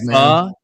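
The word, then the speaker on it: phở: And if I want to eat fur and if I want to eat fur on a show that I help founded, then I'm gonna do it.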